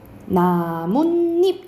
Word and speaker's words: 나뭇잎: 그리고 세 번째는 나무 플러스 잎. 어떻게 발음나는 이거는? 자연스럽게 하면 나뭇잎 이렇게 발음나죠.